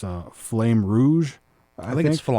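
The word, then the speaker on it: Flamme Rouge: eye was called I not sure how to pronounce this, but it's uh Flame Rouge, I think. Flam Flam Rouge.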